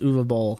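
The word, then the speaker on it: Uwe Boll: announces that he is going to be fighting U ball what does that mean u b German film director very word name spelled UAB Bal but it's actually pronounced uall I looked this up I had the the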